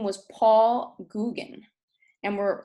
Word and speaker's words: Gauguin: And while his name looks like Gauguin, it's actually pronounced the French Gauguin. Google? He was a fellow, yeah, like Google, but Gauguin.